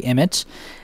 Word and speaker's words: EMIT: thing I know is it's actually is pronounced the English way Emmitt and it's involves another